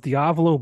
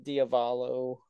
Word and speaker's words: Diavolo: I'm surprised why because lot of people don't say it right they they uh you know they say it as uh diavalo or something like that where it's like it just sounds like Diablo but with a V instead of a b